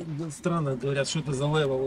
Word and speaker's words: Лев: Насчет левел, да, странно говорят, что это за левел, у тебя там меряешь левел, но это тут